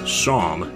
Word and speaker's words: Seam: The name's Seam, pronounced Shom. Shom, okay.